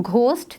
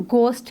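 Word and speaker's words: ghost: गोस्ट, इसको पढ़ते वक्त हम घोस्ट नहीं कहते हैं, इसको हम गोस्ट कहते हैं, सो एच is silent hair.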